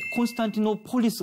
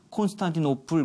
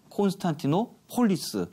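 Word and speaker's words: Constantinopolis: 옮겨 가니까 네 귀에 콘스탄티노폴리스 가 맞습니다 무렵 분도 이것을 콘스탄티노플 부렸는데 그건 영어식 발음 이구요 실제 당시 사람들은 콘스탄틴 어 폴리스 그래 불었습니다 예 그러면서 이거 신자 아무래도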